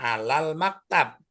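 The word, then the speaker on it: على المكتب: Ala al-maktab dibacanya alal maktab. Ya.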